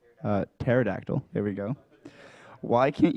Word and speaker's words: pterodactyl: can't you hear a there's a p in front why can't it's like a like we don't pronounce terabyte well actually we pronounce a terabyte so but there's no P involved why can't you hear a pterodactyl going to the bathro from because the p is silent uh they should just